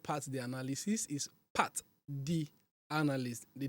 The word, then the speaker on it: Pat'D: of you get it wrong and then they pronounce it pat the analysis it's actually not part the analysis is Part D analyst the D is is a capital letter